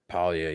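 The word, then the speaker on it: Paglia: Palia, yeah. Okay, cool. I mean, what's the point of the G if you guys don't pronounce it? I don't know, but it's silent.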